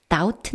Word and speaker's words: doubt: " 의심 하다 (doubt)" 의 "b" 는 묵음 이다 .